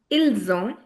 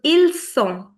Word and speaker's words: ils ont: It was il sont. This is ils ont. So, s and z make the entire difference.